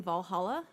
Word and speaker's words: VA-11 HALL-A: hi we're gonna be playing Valhalla which is spelled V a11 space hull - a Virginia 11 poly yes